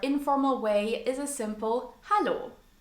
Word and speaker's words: Hallo: The most commonly used phrase to greet someone in a casual or informal way is a simple hallo. Hallo. Almost sounds like the English hello.